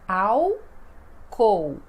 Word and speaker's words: álcool: vamos ver ó álcool então é tudo com som de u né então ácool né como se fosse o álcool porque Lembrando que o